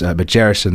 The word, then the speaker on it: Magerison: It's a soft G, Magerison.